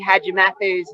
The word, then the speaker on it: Hadjimatheou: Not that it really matters, Steve, but let's have a little pronunciation lesson on Chloe Hadjimatheou's name.